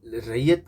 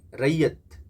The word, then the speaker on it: रैयत: बंगाल ये एक्चुअली बंगाल रैयत के बारे में बात कर रहे हैं कुलक ऑन बंगाल रियो ये रियो नहीं रैयत जिनको प्रोनाउंस में थोड़ा सा यहां पर वो